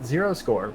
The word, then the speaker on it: 0_score: My Twitter handle is at @0score, but with an underscore in the middle, because I'm not cool enough to have just @0score by itself.